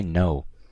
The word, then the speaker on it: know: whatsoever me I don't I I never pronounce the K I don't take no I say no however there's a silent K it is what it